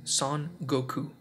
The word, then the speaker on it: Son Goku: his full Japanese name son Goku in two words son pronounced in French has a pretty awkward pronunciation as a name it would be pronounced like song Goku which translates to his Goku so I assume